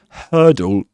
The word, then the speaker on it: hurdle: So this word has two syllables and hurdle in the first syllable. her the vowel sound rhymes with the vowel sound in the word church. Okay. And the word word and there's another word very common word which is bird. So hurdle bird church and word.